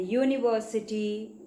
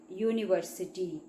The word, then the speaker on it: university: And university, it is not, we are not pronouncing it with a vowel, that is with a vowel sound. So we use a there, university.